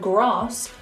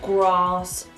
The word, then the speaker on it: grass: In certain words like bath, past and grass, we pronounce the A as an R. Like you're an opera singer. Ah! Or you're at the dentist. Ah! Bath, grass, half.